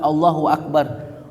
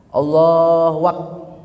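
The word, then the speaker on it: الله أكبر: au mutaharriqah bainal kalimataini atau wau yang berbaris antara dua kalimat seperti dua kata Allahu Akbar Allah waqah sering banget tuh orang tuh Allah wak. Karena sering dulu main itu kali ya. Wak wakung nasinya. Allahu Akbar. Allahu Akbar. Allahu Akbar. Apa gitu enggak bisa tuh. Jangan ya. Enggak boleh di sini.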